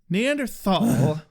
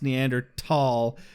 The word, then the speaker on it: Neanderthal: honored by being pronounced neander tall does not mean that the Americanized pronunciation is not legitimate pronouncing it with our Americanized th Thal that's like saying